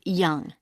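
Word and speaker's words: Yonge: now can i have your name yes it's young j h young that that's spelled y o n g e that's young i see and your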